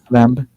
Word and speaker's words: lamb: Lamb. Where do we pronounce the B sound? Yes, I pronounce lamb. Lamb. With no B sound.